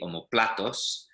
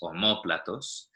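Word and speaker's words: omóplatos: Yeah, so los omoplatos has a tilde, an accent on the O there. Otherwise it would be omoplatos, but it's omoplatos.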